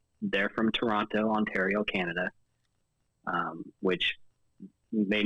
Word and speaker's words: Toronto: miss it a lot Americans say Toronto have not oh we do yeah you emphasize because it's like Toronto yeah and we're like Toronto Canada yeah yeah it's like